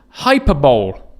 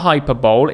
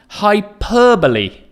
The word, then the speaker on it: hyperbole: It's not hyperbole, it's in fact hyperbole. It's a very strange pronunciation, but we've got to get it right. So listen one more time. Hyperbole. The stress again is on the second syllable.